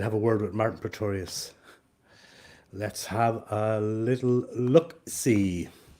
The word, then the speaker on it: Praetorius: Martin Praetorius rhymes with notorious, so he says. Let's see if he's online, and we'll have a word with Martin Praetorius.